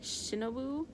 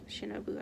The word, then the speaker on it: Shinobu: i mean there's this one girl named uh shinobu i think that's how you say her name um is she in the final chapter let me see um it's definitely shinobu i believe either way uh she clearly likes